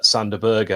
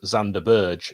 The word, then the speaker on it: Sander Berge: who knows i mean chris wilder also pronounces uh sander berger as zander burge so i don't know